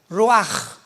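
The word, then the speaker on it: רוח: Pero la ch en el hebreo se pronuncia como j. Roaj.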